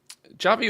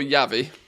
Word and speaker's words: Javi: Javi or Yavi? It depends how you pronounce the J.